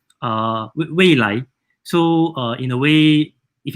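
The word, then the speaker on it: 蔚来: And then Nio in Mandarin is called Weilan, Weilai.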